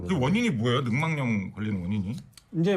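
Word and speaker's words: 늑막염: 자, 이 근막염 발음 얘기했었는데 제가 옛날에 능망염을 알았었거든. 고등학교 3학년 때. 그래서 제가 저걸 잘 알아. 능망염? 저도 능막염 이렇게 능망염. 발음을 했었는데 사전을 보니까 능망염으로 발음을 해야 돼. 네. 니은이 첨가돼야 어쩌다 된다.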